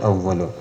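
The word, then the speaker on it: أَوَّلُونَ: അവിടെ മണിക്കണം എന്ന് കഴിഞ്ഞിട്ട് കുറച്ചു നീട്ടണം അവ്വലൂൻ അവ്വലൂൻ എന്നുള്ളത് നിർത്തുമ്പോഴും നീട്ടിയിട്ടാണ് നിർത്തേണ്ടത് അവ്വലൂൻ അവിടെ മദ് കുറച്ച് നീട്ടിയിട്ട് അവ്വലൂൻ എന്ന് നിർത്തരുത് അവ്വലൂൻ എന്നാണ് നിർത്തേണ്ടത് അപ്പൊ ഇതാണ് ഓതുമ്പോൾ ശ്രദ്ധിക്കാനുള്ളത്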